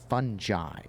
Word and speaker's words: fungi: case an i and the root word is Latin based which gives it a soft G sound or a j which is fungi it's